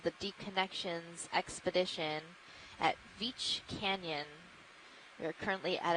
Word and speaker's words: Veatch: here at Veatch Canyon, which we had a very spirited debate before the dive on the exact pronunciation of. But we've said Veatch, this is the company line, and that's what we're doing from here on out.